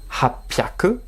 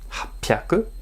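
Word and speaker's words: 八百: Hapyaku. Hapyaku. 800, c'est exception aussi.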